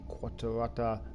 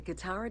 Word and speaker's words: Qattara: Alright, let's go ahead and do the next part of the Egyptian tour, and it is the Qatarata Depression.